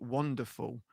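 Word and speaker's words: Wanderful: Window Wonderful. So it's like the word wonderful, but spelt with an A. So it's wander, as in walking around.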